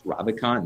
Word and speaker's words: Ravikant: There's like, it's called like the Naval, I think it's called the Naval Almanac, is, I can't fully pronounce his last name. I think it's Ravikant, Naval Ravikant.